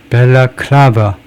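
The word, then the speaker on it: balaclava: 벨라클라버 벨라클라 클라 거기에다 prim머리 엑센트를 뛰고 맨 앞에이 베 거기는 세컨 겨우 모음 발음이 하고 엑센트는 클라 여기 엑센트 클라버 클라버 벨라클라버 벨라버 여기 클라 여기를 강하게 표시했듯이 그래서 이게 방안모다 이렇게 생긴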